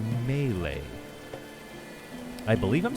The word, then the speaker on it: melee: up in in uh mealy or i believe you're supposed to say melee i believe i'm saying